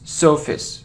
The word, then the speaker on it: surface: It isn't surface, or surface, it's surface. So sun and face, not face, surface.